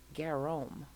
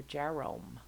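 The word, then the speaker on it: Gérôme: this guy this is Jean Leon guerrom or Jerome I've heard it pronounced both ways but he painted uh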